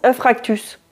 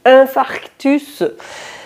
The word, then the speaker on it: infarctus: Beaucoup de personnes le prononcent infractus. Vous avez déjà remarqué ça ? Et des fois ça me démange de leur dire, on dit infarctus.